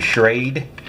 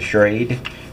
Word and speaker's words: Schrade: doing a box opening on the shred or shredy or whatever you want to call it i believe it's a schrade that's the pronunciation i'm choosing right now uh folding shovel